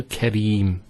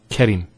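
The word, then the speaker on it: করিম: this is a yeah here so Karim not caring next word mother boob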